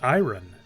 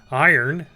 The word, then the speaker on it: iron: his second language, and he always called it iron. And somebody asked him once, why do you call it iron? And he goes, well, you guys are the ones that say it wrong. Iron. Because he's like, there's an O in there. Iron. And so we looked at it, we're like, oh my gosh. But everybody says it iron.